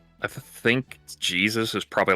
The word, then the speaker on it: Jesus: I'm I'm gonna be honest because it's like it just it it's Jesus but it's pronounced in the Spanish is Jesus.